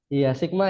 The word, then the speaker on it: Sigma: tahu ya teman-teman kalau yang seperti ini kira-kira dibacanya apa kayak huruf v ini ya Sigma ya jadi kita panggilnya atau biasanya sebutnya adalah